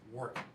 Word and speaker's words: Warwick: You gotta say it right, it's Warwick.